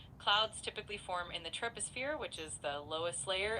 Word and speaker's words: troposphere: It's pronounced troposphere.